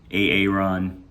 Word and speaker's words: Aaron: Because it's pronounced Aaron?